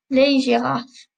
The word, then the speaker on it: girafes: those that I've said, I haven't pronounced the S on the end, and that's important. We don't pronounce the S's on the end, okay? Les serpents, les loups, les lions, les zèbres, les girafes.